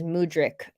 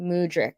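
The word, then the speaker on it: Mudryk: stance on it um crispy rice says mudric so that's how you say it amazing mudric thank you so much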